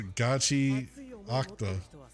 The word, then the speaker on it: Gachiakuta: Oh, that's a gachi octa.